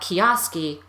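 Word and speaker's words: Kijowski: name because when I say it out loud kiosk e no one has any idea how to spell that or write it down or put it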